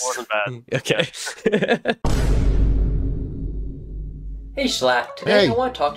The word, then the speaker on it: Schlatt: You pronounce his name correctly. Yeah, I do pronounce his name correctly. Not Schlitt, not Schlug. Ooh, all right.